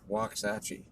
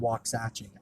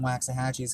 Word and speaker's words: Waxahachie: because I don't know of anywhere actually called wax hatching I know Waxahachie unless that's not how it's